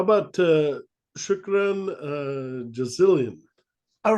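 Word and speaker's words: شكرا جزيلا: your own part yeah um how about uh shukran uh jazillion all right that's um uh maybe I said it wrong no no I'm just interesting okay is is thanks shukran jazilan means thank you very much it's Arabic and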